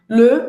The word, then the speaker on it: le: Le, você vai fazer a boca do O e vai falar E. Esse é o E, o biquinho francês. O E fechado em francês, tá?